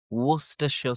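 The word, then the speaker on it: Worcestershire: simple just wora Therefore, going back to the pronunciation of the famous sauce by Lean Perins, it is wora worsha sauce.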